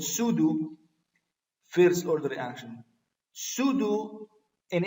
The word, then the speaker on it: pseudo: krtv this is called pseudo first order pair this is spelled as pseudo to do some teachers or something soon as they say pseudo the P here is silent this is called pseudo first order reaction pseudo